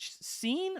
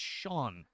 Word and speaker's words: Sean: Is it Scene? I'm like, it's Sean.